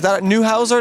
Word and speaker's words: Neuhauser: Is that Neuhauser? That's how I pronounce it? Yes, Okay. that's the correct pronunciation.